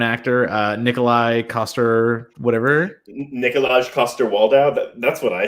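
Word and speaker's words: Nikolaj Coster-Waldau: um i'm gonna butcher it how do you pronounce the game of thrones actor uh nikolai koster whatever nikolaj koster waldow that's what i said yes exactly so that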